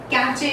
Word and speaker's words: cache: so many times, and it is pronounced as cache or cat, which is a mispronunciation, of course. So the correct pronunciation is cache. It goes in the way cache and not cache or catch.